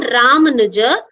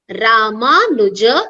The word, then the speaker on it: Ramanuja: It's not Ramanuja. Ramanuja is the pronunciation.